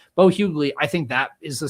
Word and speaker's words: Bo Hughley: And then Bo Hughley, as I've come to learn that it's pronounced, Bo Hughley, I think that is the starter.